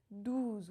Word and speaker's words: douze: it with the word douze, which means 12. Douze makes the sound OU rounded, and deux is the E sound. Can you hear the difference?